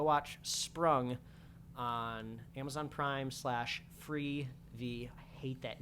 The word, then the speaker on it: Freevee: So go watch Sprung on Amazon Prime /Freevee. I hate that name. It's so dumb. But go watch it. It's funny. I'd recommend it. It rhymes with TV.